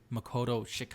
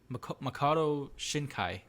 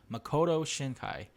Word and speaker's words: Makoto Shinkai: talk about is weathering with you it's by Makoto Shack I think that's the name of the director let me just look it up Makoto Shinkai ass and that's it the last name wrong